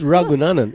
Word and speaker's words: Ragunanan: It's Ragunanan. Adrian Ragunanan. Okay, Yes.